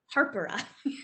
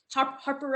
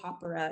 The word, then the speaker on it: Hapara: maori it's actually pronounced harper there's an r in there that i can never get harper or you could say opera is the actual pronunciation